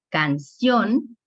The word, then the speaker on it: canción: Por ejemplo, canción no tiene la misma, se escucha más fuerte ¿cuál sílaba? Canción. La última sílaba se escucha más fuerte, lleva ción. Aquí en la sílaba ción es la que lleva el mayor relieve.